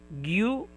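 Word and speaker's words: ぎゅ: And a small ya, it will be pronounced as gya, gya. Yeah. Yes. And we have here gyu and gyo, gyu and gyo.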